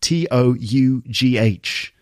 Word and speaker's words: tough: experience like that, tough, Tough, pronounced tough with a f sound, tough. It's tough stuff. See, those words rhyme.